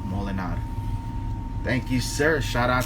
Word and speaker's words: Molenaar: Romano Molinar. There it is. It's spelled Molenaar. Romano Molinar.